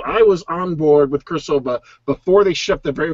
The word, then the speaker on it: Cirsova: Cirsova with a hard C.